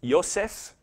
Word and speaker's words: Joseph: This is Joseph, would have been pronounced Yosef, which means to add.